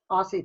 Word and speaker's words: Aussie: It's pronounced like a Z. Oz.